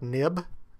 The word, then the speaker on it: XIB: select the hello iPad nib. Um, I know it's spelled XIB, but if you've been programming with Apple resources any length of time, you know that that's generally pronounced NIB.